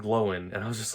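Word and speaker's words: Glóin: of the rings and it's always been oine and gloin and andy circus chose to pronounce it as owen and glowin and i was just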